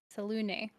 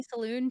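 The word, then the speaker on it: Selûne: I always say that name wrong. Apparently, a lot of people say Saloon too, which I think sounds silly. And I think that's but we're gonna go with Selune because that's the pronunciation, I guess.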